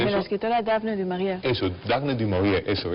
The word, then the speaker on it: Daphne du Maurier: ¿Cómo se pronuncia eso? De la escritora Daphne du Maurier.